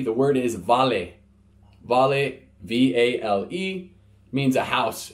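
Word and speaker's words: vale: V next letters letter V the word is volley volley v-a-l-e means a house in Fijian you're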